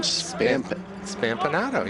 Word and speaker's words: Spampinato: How do you say his last name? Spampinato. You got it. Spampinato. Okay. Just the way it looks.